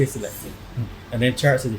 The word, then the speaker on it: Selecta: So it's not Selector, it's Selecta, because we actually say Selecta.